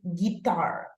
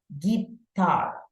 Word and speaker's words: guitar: And I think that also, okay, the pronunciation of this is guitar, okay? The stress goes in the tar, guitar, okay?